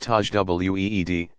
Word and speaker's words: tajwid: One who memorizes the entire text and learns to recite it in an elaborate and demanding style called tajwid, pronounced tajweed, embellished.